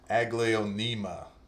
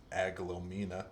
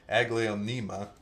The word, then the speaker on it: Aglaonema: 4-inch Alocasia Black Velvet, and okay, I totally screwed up the pronunciation of this last time, so let me get this right. An Aglaonema, I think I was calling it Aglaomena or something like that. Aglaonema Garnet Coltrane in a 4-inch pot.